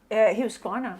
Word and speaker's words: Husqvarna: How do you pronounce it properly? IKEA. IKEA. Yeah. How do you say Husqvarna, please, from a Swede? Husqvarna.